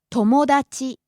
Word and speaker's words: 友達: から Next, 友達 friend. 友達友達 Starts low, rises on mo, the second syllable, and stays high.